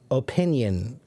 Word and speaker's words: opinion: Opinion. Opinion. Some people pronounce it with a stronger O in the beginning, opinion, but really a